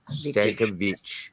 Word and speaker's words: Stankovic: Is that how I pronounce that? Is that 48? Sure. Vich. Stankovic.